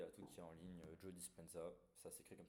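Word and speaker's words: Joe Dispenza: a tout en ligne Jo dispensa ça c'est'écrit comme ça se prononce avec un Z voilà mais du coup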